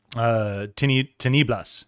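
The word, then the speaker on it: Tinieblas: Teniblas, excuse me. Enlazan las Teniblas is how you say that.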